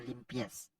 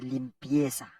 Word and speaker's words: limpia: pièce faire pièce non moi c'est pas limpièce c'est limpia limpia ok qui signifie propreté qui